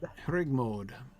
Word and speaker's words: Hregmod: Hregmod. He's got an accent on the second half.